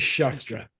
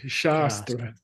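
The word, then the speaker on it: śāstra: for classical commentary is shastra with a long a shastra okay okay what's chestra mean if you don't make it long weapon sword knife sorry yeah a blade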